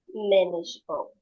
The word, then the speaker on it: manageable: Manageable. That's right. So here we have manageable. Manageable. It works the same way as ve vegetable. So we first like swallow these two two syllables and then rest readers